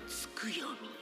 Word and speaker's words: Tsukuyomi: Skuyomi.